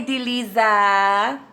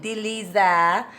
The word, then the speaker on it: Dileesa: Hi, Deliza. You must be French, because that's how French people say my name. Deliza.